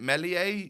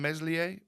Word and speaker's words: Meslier: week we could get is it Melia they they pronounce it rather than meslier yeah I'm pretty sure